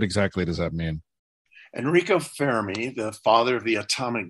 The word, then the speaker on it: Fermi: right now i think i would fail the fermi paradox am i pronouncing that correctly for me yeah you are